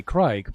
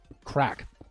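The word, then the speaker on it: craic: But us Americans say crike, but you know the Irish, they say more like crack. Especially the ones down south, like in Cork and Waterford and places like that, where my friend is from.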